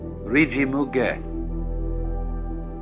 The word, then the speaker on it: Rijimuge: Third, the one that is called Rijimuge, Ri-Ji-Mu, M-U, Ge, G-E.